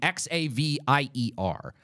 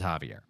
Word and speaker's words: Xavier: name I don't know it's one of the two ways you pronounce the name x-a-v-i-e-r this is not some